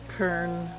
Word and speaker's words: Kern: I guess I gotta remember how to Kern. I know it's I was calling him like Sir Nunos for a long time, but it is a hard K.